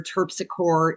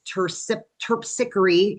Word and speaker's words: Terpsichore: Um, I always called her TPSR. It is tip tickery is the proper pronunciation.